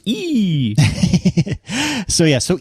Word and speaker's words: EE: it in the UK I believe it's pronounced e so yeah so e has it in e.o.